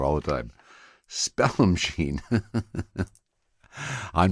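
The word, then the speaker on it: Spallumcheen: this moment I think I've been pronouncing that wrong all my entire life Spell machine is how it is it said now it's pronounced and it's only because I'm high that I realize that I have been saying that word incorrectly sorry for the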